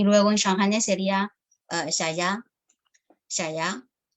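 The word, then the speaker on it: 谢谢: Xie xie es el chino mandarín y luego en shanghainés sería xia ya. O sea, la pronunciación es muy distinta.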